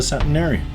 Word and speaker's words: septuagenarian: Hell, I wouldn't mind being a septuagenarian. That's how it's pronounced.